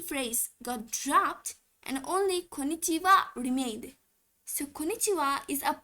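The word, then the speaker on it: こんにちは: But when you use it as a particle, pronunciation changes a bit and we say wa. So why is it Konichiwa and not Konichiha?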